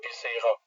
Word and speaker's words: Viscera: Is it Viscera? I think we have decided collectively on using Visera, which is the Danish Latin pronunciation.